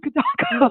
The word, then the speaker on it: Fidalgo: It's another beautiful day here on Fidalgo Island. Fidalgo Island. So, because I was going to go Fidalgo.